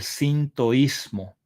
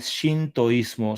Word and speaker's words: sintoísmo: que se conoce como el sintoísmo o el shintoísmo. Son dos formas de pronunciar esta esta palabra, este sinto que etimológicamente